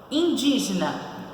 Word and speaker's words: indígena: Indígena. Indígena. São 4 sílabas, então ela é polissílaba, que é quando tem mais de 3 sílabas. Qual é a posição? Olha lá, indígena, antepenúltima, então ela é proparoxítona.